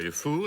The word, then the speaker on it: Defoe: You know, Defoe is correct. You know, fou in French means crazy. I didn't know that. Oh, yes, I am very aware of that. Francois de Crazy. Francois Defoe.